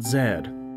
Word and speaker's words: Z: It feels weird to say Z because it's pronounced Zed.